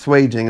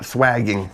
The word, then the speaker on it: swaging: I've heard it pronounced swaging, not swagging. So yeah, let's go with swaging.